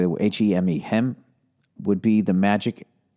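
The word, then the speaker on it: heme: I had a strong suspicion early on that, I don't know how to say the word, H-E-M-E, hem, would be the magic ingredient for flavor.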